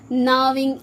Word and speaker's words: gnawing: जी नहीं पढ़ेंगे है ना, gnawing animals, gnawing animals.